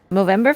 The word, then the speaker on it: Movember: last, in support of Movember Foundation, I believe is how it is pronounced. Yes. That is correct. It is the Movember Foundation.